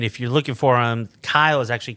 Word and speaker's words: Keil: family that that is our last name is Kyle ke i l you have to say it pronounce it and spell it because nobody will